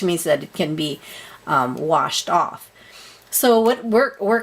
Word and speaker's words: gouache: already have on hand I use something called wash and this is what it is second wash okay that's how you pronounce it they're so cohosh is just like